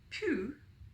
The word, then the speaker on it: Pooh: Pooh, by the way, is pronounced sort of like poo, but without so much ooh. Like the sound you make when blowing a fly off of your arm on a hot summer day.